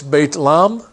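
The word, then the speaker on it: بيت لحم: means House of bread in Arabic it's Beit Lahm and there's there's been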